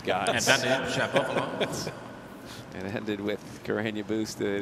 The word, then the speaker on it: Shapovalov: As much as I like Fergus, he's mispronouncing. He is. And so we have to explain that's why. As Dennis says, his own name, Shapovalov.